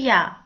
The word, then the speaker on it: as: La lettre S tient la main de la lettre A, mais elle reste muette.